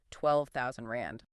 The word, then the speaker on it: R12,000: Just for our listeners, if you see an R before a number of like R12,000 that is pronounced 12,000 rand, correct?